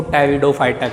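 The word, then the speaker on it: Pteridophyta: P silent होता है यहाँ पे, इसको टेरिडोफाइटा कहते हैं।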